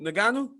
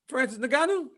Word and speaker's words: Ngannou: Nagano? Nagano? When he does it in the microphone thingy. Who? Francis Ngannou? Yeah, what he does. Ngannou. Francis Ngannou. Hey, Francis Ngannou. Hey, oh, that's how you say his name?